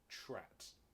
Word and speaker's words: TRAT: He's a member of, I'm going to pronounce this very carefully, TRAT.